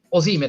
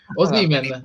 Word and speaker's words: Osimhen: Ora, Osimhen, lo chiamo come si chiama, va bene, così non ti incazzi. Osimhen, come accento.